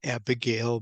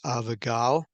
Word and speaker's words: Abigail: Abigail and of course we pronounce it Abigail but in Hebrew is avagal avagaleo and it means